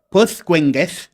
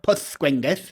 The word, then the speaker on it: Pwllgwyngyll: O sea, doble L se pronuncia shla. Llanfuereth, Pwllgwyngyll.